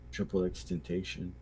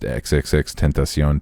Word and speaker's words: XXXTentacion: agree with um okay that always bothered me too that it's actually pronounced xxxtentacion too is this like what the it's triple X Temptation like that's I yeah I